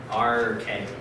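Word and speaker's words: ἀρχή: Arche. It's two syllables.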